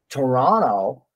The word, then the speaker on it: Toronto: by n some people some people in North America will drop the T and just pronounce the letter n as in Toronto instead of Toronto Dennis granted identical identity